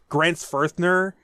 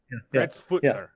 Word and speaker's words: Grenzfurthner: like the syllables, like Grenzfurthner. Yeah, to me, that is such a cool name. It's actually not a TH. It's not a TH because most Americans think it's a TH.